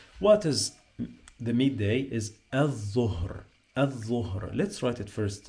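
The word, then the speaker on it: الظهر: Al-dhuhr, al-dhuhr.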